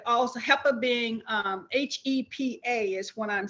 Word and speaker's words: HEPA: help of being um h e p a is what i'm saying the h the e the p and a are acronyms but it's pronounced hepa and hepa filters are